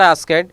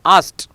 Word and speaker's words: asked: Asked, many students speaks or many people are speaking asked, it is not asked, it is asked.